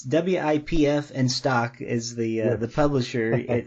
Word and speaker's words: Wipf and Stock: to pronounce it it's wipf and stock is the uh the publisher whoop i always want to say whip but i'm never sure if i'm pronouncing it right but the good